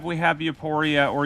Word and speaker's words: Euporia: At number 5, we have Euporia, or Euphoria, if that's what you want to call it. I know some people mispronounce it, but it's mispronounced a lot, so I'm just going to call it both.